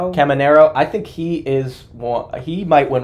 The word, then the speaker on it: Caminero: How do you pronounce his name? Caminero.